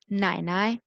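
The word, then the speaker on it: 奶奶: नाई नाई, नाई नाई means grandmother, grandmother is called नाई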